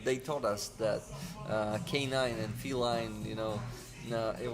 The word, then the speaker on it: Canin: yes yes it it is pronounced like K9 K9 okay like K9 yeah